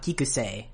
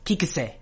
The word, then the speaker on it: Kiku: next we have the former editor Kik k kik might have noticed that the C in the